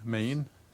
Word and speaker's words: Main: how to spell your name my last name main m n name my full name is Maine and how do you spell that m a i n okay and what